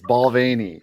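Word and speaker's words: Balvenie: said right when he said i'm like it's balvani it's it's really uh it's really a funny pronunciation for that that whiskey it's good stuff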